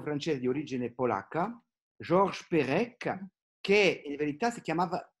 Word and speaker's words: Perec: Uno dei più grandi scrittori francesi del Novecento è un ebreo francese di origine polacca, Georges Perec, che in verità si chiamava Perec, non Perec ma Perec. Ma quando si scrive in polacco il suo nome Perec, si scrive P-E-R-E-C, nome che i francesi pronunciano Perec.